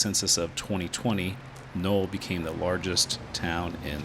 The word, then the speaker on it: Noel: Most of the year, however, area residents pronounced the town as null.